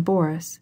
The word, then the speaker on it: Boris: as she followed him she pronounced the name Boris with the accent on the first syllable I cannot stay any